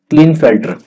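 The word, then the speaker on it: Klinefelter: ठीक है, प्रोनाउंसिएशन आप देख सकते हैं एक बार, क्लिनफेल्टर।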